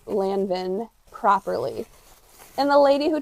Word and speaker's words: Lanvin: YouTube how to say Lanvin properly. And the lady who tried to correct me, she didn't even say it properly. N is not pronounced. No, because IN is also un. Un.